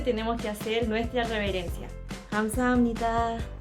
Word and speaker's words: 감사합니다: Para decir gracias sería 감사합니다. 감사합니다. Les voy a explicar la pronunciación. La primera sílaba traducida sería G-A-M, es decir, GAM.